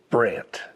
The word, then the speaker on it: Brandt: And uh but my real name is Brandt, spelled like Rembrandt. So B R N DT.